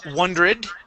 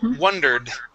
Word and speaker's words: wondered: to uh wondered okay here you had said wondrous okay the word is wondered one dirt okay one more time give me a d at the very end wondered okay good good